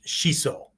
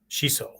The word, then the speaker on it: shiso: punching kicking yes okay the proper word is shiso shiso we would spell it s-h-i-s-o long o uh but it could